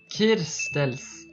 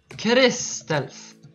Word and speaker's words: Crystals: he saying my name he's even saying it wrong he says K my name name is not Kels it it's crystals no how can you